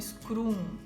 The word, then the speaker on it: Scrum: produtividade chamado o escravo algum se pronuncia um scrum escreve scrm um metro de produtividade o